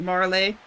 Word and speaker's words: Marle: Is it Marl? I thought it was Molly. I call it Marl because sometimes the E is silent at the end, but Marley.